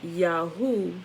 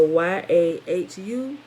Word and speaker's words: Yahu: Wait, hold on. Did I say it right? Hold on. Hold on. And the added vowels were another mistake invented by the Masoretes to alter the Yahu, Y-A-H-U, to Yeho, Y-E-H-O.